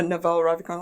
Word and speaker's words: Naval Ravikant: But I have like Naval Ravikant, like, is it pronouncing it right? Yeah. Naval Ravikant, like, he said he never watched movies.